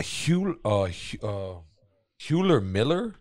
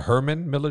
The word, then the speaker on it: Herman Miller: A Hewler Miller chairs? Am I saying it right? A Herman Miller chairs? That sounds better. Yeah. I don't know if that's Herman. Right, but that sounds better. I think better. It's Herman Miller.